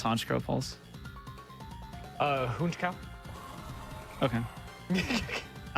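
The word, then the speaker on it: Honchkrow: I like Honkrow a lot too. How do you pronounce Honkrow Falls? Uh honchow.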